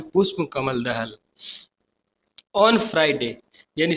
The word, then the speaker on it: पुष्प: Prime minister means प्रधानमंत्री, जिनका नाम है पुष्पा लिखा है लेकिन इसका आपका प्रोनाउंसिएशन करना है पुष्प हिंदी में, पुष्प कमल दहल।